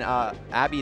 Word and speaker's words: Abbe: It's Abbe, right? Don't confuse. Abbe.